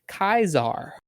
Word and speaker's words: Caesar: She said Kaiser. Oh, that's what it And is. I believe she has studied Latin, so I think she would know. But I was like, excuse me, the fuck did you just say? And that's apparently correct, but I truly hate it.